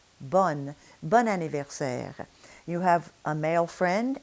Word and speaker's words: bon anniversaire: And the reason is because the combination bon in front of a vowel denasalizes and ends up sounding like the feminine, bonne.